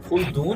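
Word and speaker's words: خلدون: अच्छा मुझे एक चीज बताइएगा, ये इब्नुल खुल्दून है या खालिद? खुल्दून है। ये प्रोनाउंसिएशन का मसला है।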